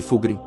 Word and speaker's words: Fulgrim: de carpinto sputum stori al representando fig fugin pronuncia-se fugin também conhecido na época anterior ao renas roros